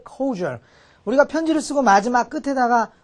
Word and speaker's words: cordial: 그래서 제가 미리 좀 여러분한테 소개하려고 써놨는데, 여기에 코디얼이 아니고 보통 발음은 cordial, cordial 이렇게 발음해요.